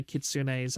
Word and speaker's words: Kitsune: This is why kitsunes are always going to be the best characters ever. 1 second on the drink. The E at the end of Japanese words is always pronounced.